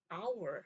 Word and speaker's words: hour: 이거 같은 경우에는 우리가 1시간 할 때 hour 해서 h 소리가 아예 안 나거든요.